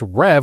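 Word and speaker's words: Rêve: Next up, we have Rev, which for the longest time I thought was Reeve, but it turns out it's Rev, which is French for dream.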